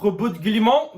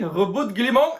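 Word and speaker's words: Roboute Guilliman: name of the Primarch looks and sounds extremely French, so that's why I'm pronouncing it that way. Rebut Guillemot, I'm always pronouncing it that way in my mind as well.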